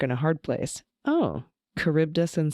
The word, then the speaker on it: Charybdis: All right, several corrections on the pronunciation of Scylla and Charybdis.